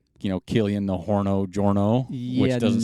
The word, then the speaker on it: Jornet: But, obviously his last name's not Jornet, so I can't use Hornet. So it'd be Killian Jorno. Then I'd have to say, Killian the Horno Jorno, which doesn't sound so good.